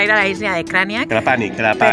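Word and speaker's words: Krapanj: a la isla de Kraniak. Krapani. Pero es Krapani, porque la J se pronuncia ahí.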